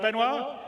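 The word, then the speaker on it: Benoit: CTO benoir bezer did I say it right benoir yeah okay good I'm always bad with French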